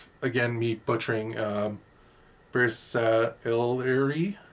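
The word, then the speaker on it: Bersaglieri: And again, how you say, again, me butchering, Bersailleri. He says the G is silent.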